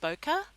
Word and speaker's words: bokeh: So it's pronounced bokeh, and it's an aesthetic quality of the blur.